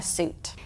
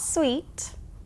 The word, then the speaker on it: suit: Yes, it looks and sounds the same as the noun a suit. The meaning and how we use it are different, but the spelling and pronunciation are the same. Not sweet, suit.